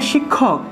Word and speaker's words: শিক্ষক: উদাহরণ হিসেবে আমরা বলি যে শিক্ষক, শিক্ষক, এই শিক্ষক শব্দের ক্ষেত্রে এই যে ক্ষটা আছে, এই ক্ষটার উচ্চারণ ক্ষ হবে। তাহলে দেখুন এই ক্ষেত্রে উচ্চারণটা হবে শিক্ষক, শিক্ষক, ঠিক আছে? শিক্ষকের উচ্চারণটা হবে শিক্ষক, অর্থাৎ ক্ষয়টা ক যুগ মূর্ধন্যস্য এভাবে ভেঙে যাবে।